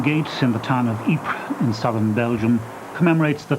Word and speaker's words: Ypres: in the town of Ypres in southern Belgium commemorates the thousands were marched past this point to the front to die in a place they couldn't even pronounce - they an EP was wipers they had come from